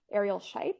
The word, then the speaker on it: Ariel Scheip: And then recently, or the recent past, I guess, I think the one I remember is from Ariel Scheip, if that's how you say her name. Yep, that's it.